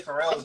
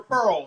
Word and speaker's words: Pharrell: Why are you struggling to say Pharrell's name? I'm pretty sure Pearl. He nigga, his name is Pharrell.